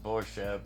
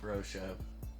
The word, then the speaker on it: Borshev: But it's Borshev, not Broshev. Hey.